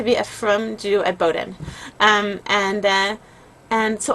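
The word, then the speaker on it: Bowdoin: Looks like it's ba but it's actually pronounced Bowden.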